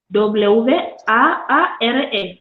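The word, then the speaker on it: Biwaare: Marta está pidiendo el nombre del blog, que es Villare, como lo ha pronunciado el presentador. Y bueno, es eso, Villare, Biware.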